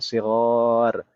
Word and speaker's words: صغار: Shaghir kalau setelah huruf ghin itu adalah ya, kita bacanya shaghir. Tapi kalau setelah huruf ghin adalah huruf alif, maka kita baca shighar.